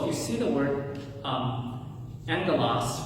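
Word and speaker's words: ἄγγελος: When the letter gamma appears before the letters kappa, chi, or gamma, it is pronounced with an N. So if you see the word angelos, right, is how you would think you would pronounce it.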